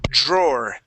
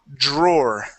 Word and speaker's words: drawer: and this word here drawer okay so here here we actually pronounce an or sound instead of draw it is drawer draw there you go